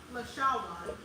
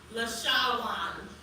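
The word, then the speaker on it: לשון: In Hebrew, tongue is pronounced lashawan. Lashawan.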